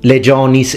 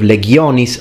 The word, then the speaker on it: legiones: we are used to hearing things such as chentum instead of kentumbin ecclesiastical Legends instead of legiones like it should be Legend is